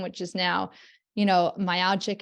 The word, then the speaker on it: myalgic: is now you know myalgic and I always pronounce it wrong myogic and so yeah yeah